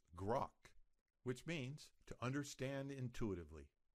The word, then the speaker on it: grok: search your source code with open grukk it's pronounced grok which means to understand intuitively you may hear people say Crockett they are asking you to search your source